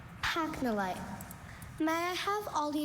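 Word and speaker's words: pachnolite: Pacnolite. Pacnolite. Are there any alternate pronunciations?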